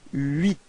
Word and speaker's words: huit: Alright, so you get this huit.